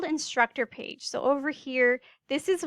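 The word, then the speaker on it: Phee: And it's funny because my name is instructor page. That's actually my last name. It's spelled P-H-E-E, which is really confusing.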